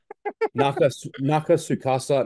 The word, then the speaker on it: Nakatsukasa: Nakatsukasa Nobuyoshi. That is how you pronounce it, Mitch, because I know in every interview you just never say it, but give him the respect he deserves. Nakata, Nakatsukasa.